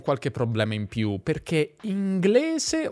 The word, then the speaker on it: inglese: Guarda che la pronuncia neutra tradizionale fa delle distinzioni. S in alcune parole e S in altre. Inglese ma francese, cosa ma rosa.